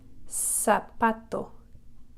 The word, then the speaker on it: zapato: And then finally the letter Z is pronounced like an S, zapato, zapato.